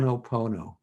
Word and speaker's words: Ho'oponopono: I always Ho'oponopono. I just pronounce every. Ho'oponopono. That's it. I pronounce every syllable.